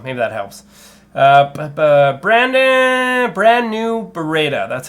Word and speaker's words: Beretta: Brand new Beretta.